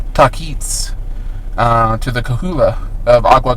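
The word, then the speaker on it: Tahquitz: And they went to the river source in the San Bernardino Mountains of the camp of the Taquis. It's actually pronounced Taquits, to the Kahula of Agua Caliente, which is another tribe that was in this area.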